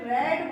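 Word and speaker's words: read: देखो गाइस यहां पे आपकी स्पेलिंग बिल्कुल नहीं बदलेगी लेकिन आपको यहां पे रेड बोलना है प्रोनंसिएशन क्या करोगे आप यहां पे रेड करोगे रेड मतलब होता है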